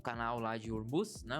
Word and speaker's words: Hormuz: E hoje de manhã, né, saiu que o Irã provavelmente ele iria fechar o canal lá de Hormuz, né? O nome, a pronúncia correta seria essa.